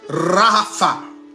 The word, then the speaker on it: Rapha: Et l'étymologie en hébreu de ce mot-là, l'étymologie en hébreu de ce mot-là, ça se prononce Rapha, qui signifie se détendre.